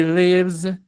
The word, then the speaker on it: lives: Entonces, esto si lo pronuncio bien es con Z. He lives, she lives, it lives.